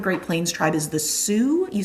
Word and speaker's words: Sioux: One example of a Great Plains tribe is the Sioux, you spell that s i o u x, the Sioux.